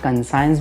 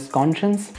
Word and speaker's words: conscious: इसको काफ़ी लोग कंसाइंस भी बोलते हैं बट the right pronunciation is कॉन्शियस। कॉन्शियस का मीनिंग होता है